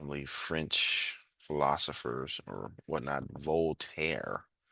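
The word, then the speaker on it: Voltaire: Volter that's how you say it.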